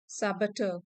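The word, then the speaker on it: saboteur: यहां पर are silent है। साबेटर साबेटर अ पर्सन हु डेलीबेटली डिस्ट्रॉय और स्पॉइल समथिंग तबाही मचाने वाला।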